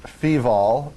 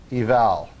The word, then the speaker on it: feval: And you don't pronounce this feval, you pronounce it feval, as in function evaluation.